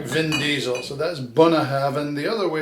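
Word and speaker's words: Bunnahabhain: the end it's like vin diesel so that's bunna have and the other way it's pronounced is bunna heaven uh using you like um in terms of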